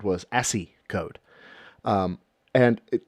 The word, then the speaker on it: ASCII: And it is pronounced ASCII.